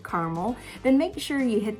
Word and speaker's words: Carmel: And by the way, yes, it is pronounced Carmel, not Carmel, as it is on the West Coast.